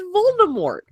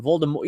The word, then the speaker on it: Voldemort: It's Voldemort. Like, there's not too much wiggle room here. And I clicked on it. Turns out it's supposed to be a French pronunciation, Voldemort. You just don't pronounce the T.